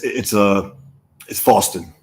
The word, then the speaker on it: Fawstin: And it's Fawstin. Fawstin. It's not okay. Like not like the Faustian deal with it. Okay, so it's like Boston, but not.